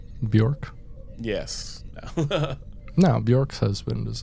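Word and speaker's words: Björk: Excuse me, I think her name is pronounced Bjork. Bjork.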